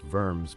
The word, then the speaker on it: Worms: kidding but Luther said nah I know it's pronounced vers but come on diet of worms then Calvin